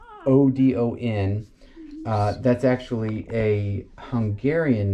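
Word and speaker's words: Ödön: It's Odon. That's actually a Hungarian name, and it means prosperous protector. Yeah. It's also the god of gods. No. That's spelled differently. That's Odin.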